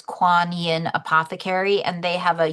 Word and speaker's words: Kuan Yin: So that's spelled K U A N Y I N. It's Quan Yin Apothecary.